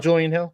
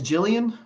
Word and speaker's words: Julian: do you feel about Julian Hill Josh uh well you're pronouncing his name wrong it's Jillian so I should tell